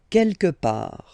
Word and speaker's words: quelque part: Quelque part. Don't pronounce the final T.